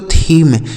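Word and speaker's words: theme: इसे पढ़ेंगे दोस्तों थीम। टी एच ई एम ई। इसे पढ़ा जाता है दोस्तों थीम।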